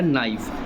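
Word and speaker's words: knife: नाइफ। क्या लिखा जी आपका नाइफ। इसमें के क्या होता है आपका? साइलेंट। के मतलब पढ़ते नहीं है। लिखा रहता है इसमें।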